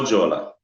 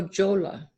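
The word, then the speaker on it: La Jolla: you went away I it's actually the H is silent you say the P o kuzey late Ola so jola so jolla yes ma'am everybody always get the F because you know it has a pH so hi how are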